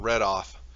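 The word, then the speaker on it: Reidoth: You need to find and go seek out Redoth. And it's spelled R-E-I. Redoth.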